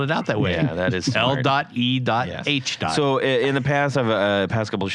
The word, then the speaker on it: L.E.H.: own what I own Le guitars Le guitars or maybe as as you out there have been pronouncing it l guitars but it's not L guitars it's just Le I don't think anybody